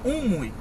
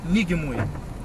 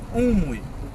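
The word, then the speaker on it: Ng Mui: O nome correto dessa monja era Unmui e não Nigmui. Unmui. A pronúncia correta é Unmui.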